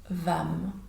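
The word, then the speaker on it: वं: Pour le chakra sacré, ça va être la syllabe vam. Donc va est plus court que m et on va prononcer par exemple va.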